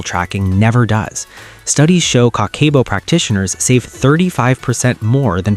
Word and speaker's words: Kakeibo: Long before spreadsheets, apps, or financial advisors, Japanese women in the 1900s used Kakeibo, pronounced Kakeibo, a handwritten monthly money journal.